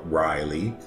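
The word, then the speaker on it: R'lyeh: I think it's Rillier. But some people call it Riley. I think it's Rillier. Because the apostrophe means like a little pause.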